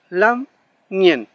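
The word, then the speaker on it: lamngen: En este caso tenemos, por ejemplo, muy conocido, lam nien. La n y se pronuncia como una sola consonante, no separado, no n y y después, sino una sola.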